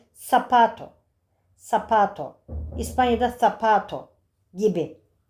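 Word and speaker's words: zapato: Seta tabii Z sesi değil. Sesi arkadaşlar. İspanyolcada daha çok biraz daha peltek H sesine yakın. Latin Amerika'da s sesiyle okunuyor. Sapato sapato.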